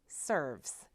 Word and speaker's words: SRVS: Once called the Shelby Residential Vocational Services, this organization is now simply named SRVS, pronounced SERVS. And what an appropriate name, as SERVS works to enhance the lives of people with disabilities in a very unique and comprehensive way.